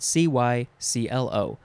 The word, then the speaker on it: cyclo: i will tell you next is cyclo or cyclo cyclo is not one of the options c glow or cyclo it is spelled c-y-c-l-o noun from 1964 a